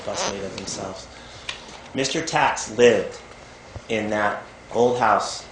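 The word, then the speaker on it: Taix: mausoleum of, I think his last name is pronounced Tax, T-A-I-X.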